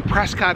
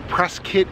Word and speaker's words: Prescott: is a huge one i'm in prescott arizona or press kit arizona depending on who you asked the locals say it both ways so i'm gonna say